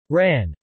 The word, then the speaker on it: Wren: When used in this context, Wren is often pronounced Ran.